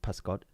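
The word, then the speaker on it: pysgod: So, fish is pascod.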